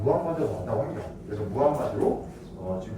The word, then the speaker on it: 무함마드: 아랍어식으로 발음하면 무함마드가 왔다고 합니다. 그래서 무함마드로 지금 교과서에 또 바뀌었더라고. 난 어릴 때 이 사람 마흐메트로 배웠거든. 그거 영어식 표현이라고 합니다. 그래서 무함마드가 아랍식 표현이라고 합니다.